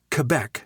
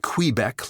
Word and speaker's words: Quebec: and just a reminder it's pronounced Quebec not Quebec like you all say the indigenous peoples